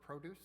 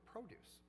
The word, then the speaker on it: produce: Rhythm matters even in the single words. For example, record contrast, contrast, project, project, or produce or produce. These can either be nouns or verbs depending on which syllable is stressed.